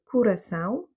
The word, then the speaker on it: Curaçao: Donc ici, l'accent tonique se fait sur le A puisqu'il contient un tilde, c'est le son nasal AO. Et donc le O qui se trouve plus en avant dans le mot va se prononcer OU. Curaçao.